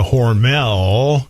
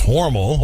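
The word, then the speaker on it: Hormel: the grandfather worked at horal or as we call it outside of aus Minnesota horel as we all mispronounce it it's horal over to horal Y um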